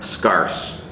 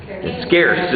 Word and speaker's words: scarce: to write it down scarse scarce is the way you say it but you said scarse